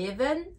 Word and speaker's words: eleven: anglais se dit il eleven avec le Son i j'entends beaucoup de personnes dire et l'événement le E se prononce i il est vert thirteen